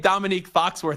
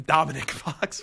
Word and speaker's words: Dominique Foxworth: He made Dominique Foxworth Italian. He called him Dominic Foxworth.